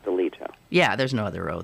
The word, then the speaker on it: Alito: why did i do ali yoto thank you i don't know but his name is pronounced deleto yeah there's no other